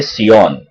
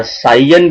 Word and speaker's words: scion: को कहा जाता है सियोन। सो वन बड, वो जो सियोन है या साइयन भी इस तरह से भी प्रोनाउंसिएशन किया जाता है, तो ये जो साइयन